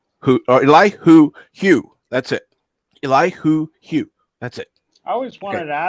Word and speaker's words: Elihu: The first person I actually heard say his name right was Professor Brady Specs. And I even saw it on that video of what's his name? Yitzhak made, where his name is Eli Hugh.